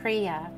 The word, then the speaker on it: Kriya: based base the crea symbol the symbol is pronounced crea it represents perfect balance it is also called